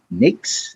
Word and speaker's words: Nyx: They call it the Concept Nix. It's spelled NYX.